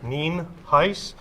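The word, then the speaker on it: Nienhuis: for showing up i'm hernando county sheriff ninhais it's spelled n-i-e-n-h-u-i-s and it's pronounced nien heiss we also have a couple individuals here that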